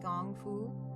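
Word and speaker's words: kung fu: of this gong kungfu k un g fu pronounced gongfu and there is Taiji Kwon tae i ji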